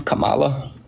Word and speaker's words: Kamala: say like actual sentences please how do you pronounce her name Kamala Kamala Kamala she's an immigrant herself she's going